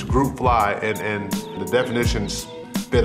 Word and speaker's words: GRP Fly: with the GRP fly some people even pronounce it wrong grip fly but it's group fly and and the definitions